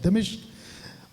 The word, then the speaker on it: दमिश्क: इसका ये जो सफर था, दमिश्क, अभी तक हम लोग कुछ और बोलते थे, लेकिन ये राइट प्रोनाउंसिएशन है दमिश्क और दमास्कस, ये इसका इंग्लिश शब्द है दमास्कस।